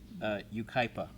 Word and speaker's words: Yucaipa: California city that we couldn't pronounce it is pronounced Yucaipa California UK UK Pina how'd they get that he's with the sea oh no it is you right yeah Yucaipa gotcha why well thank you Michelle yeah thank